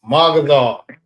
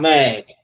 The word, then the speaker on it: Magadar: It's Magadar, not Mag.